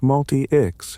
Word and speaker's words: Multics: Multics had been pronounced multi-ix in reference to multiple users.